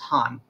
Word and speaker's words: Khan: when you see Khan Kha and it's actually pronounced Han he forms the Republic of Afghanistan in 1973